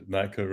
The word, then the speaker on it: Naicker: Naicker, is that how I pronounce it? Naicker is right.